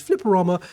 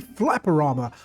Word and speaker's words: Flipperama: So, I called the developer behind this Flipperama, but they said it rhymes with Futurama. So, it must be Flapperama.